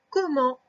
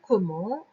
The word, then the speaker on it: comment: Et donc le comment s'écrit O-ko. Ensuite il y a deux M. Faire le M, c'est avec deux M. Et ensuite le en s'écrit E-N. Et à la fin, il y a un T qu'on n'entend pas.